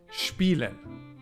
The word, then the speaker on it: spielen: You pronounce it as if it were SHP. Spielen.